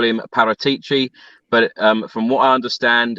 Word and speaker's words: Paratici: But I'm just going to say, for the record, well done to Dele Alli and Paratici, because to get him on board was a massive strategy.